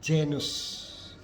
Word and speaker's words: genus: Satu, di depan E dan I, G diucapkan seperti J dalam ketika kita misalnya sebut jiwa. Contoh tulisannya genus dibaca genus, tulisannya gens dibaca gens, eger ditulis eger, kemudian tulis diligere dibaca diligere.